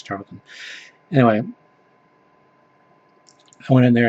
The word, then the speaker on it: Charlton: A lot of gold keys, which I love collecting, and Charltons, which I all my life have pronounced Carlton, but I know it's Charlton.